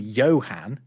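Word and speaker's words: Johan: If you think about the name Yohan spelled J O H A N. If you do replace that J with just an I, it's still Yan, right?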